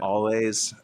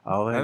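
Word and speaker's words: Alvvays: Um, is that how you say it? There's two V's. I know. Oh, I I And I say always and someone made fun of me.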